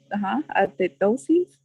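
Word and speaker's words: athetosis: How do you this pronounce one. it? Like atetosis?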